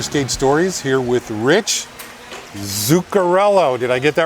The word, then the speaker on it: Zuccarello: episode of Roller Skate Stories here with Rich Zuccarello. Did I get that right? You did. You did. Awesome. Good job. Can you spell that, by the way? It's Z as in zebra, Uccarello. Okay. Zuccarello.